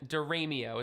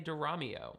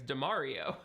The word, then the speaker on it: DiRamio: Diramio is what I say but other people in my family say Diramio and some online still think it's Damario.